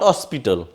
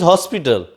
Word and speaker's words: hospital: create to you here if you pronounce this word not Ospital it is hospital that's why we will